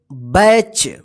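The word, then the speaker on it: batch: मतलब होता है दल यहां पे ध्यान रखिएगा जब भी टी के बाद सी एच रहता है तो इस टी का उच्चारण नहीं होगा ठीक है ना चलिए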